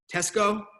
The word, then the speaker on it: Tesco: is it I can't I'm gonna say chest Tesco is how you say that Tesco awesome okay I